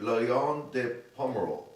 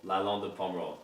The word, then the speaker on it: Lalande de Pomerol: Chateau Tournefeuille, Lalande de Pomerol. Lalande de Pomerol. You got that right. Lalande de Pomerol.